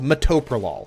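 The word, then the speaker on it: metoprolol: There's a medication called mytopralol. That's how it's pronounced.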